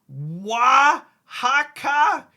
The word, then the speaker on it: Oaxaca: It says it's pronounced Oaxaca.